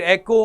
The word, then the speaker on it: echo: Even के को से लोग इसको इको प्रोनाउंस करते हैं, बट एग्जैक्ट प्रोनाउंसिएशन आपके पास इसकी एको होती है।